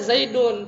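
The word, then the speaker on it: زيدٌ: Tapi kita bacanya Zaidun, padahal kita nulisnya nggak begini.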